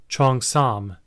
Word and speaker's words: cheongsam: articulate to you guys the proper way to pronounce the name for this garment and it is Chong Sam all right so it